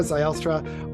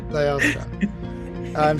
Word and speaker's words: Zylstra: On today's episode, I'm pumped to have Zylstra on the podcast with us. I said it wrong. I totally said it wrong. No, you were close. You were close. I was close. Zylstra.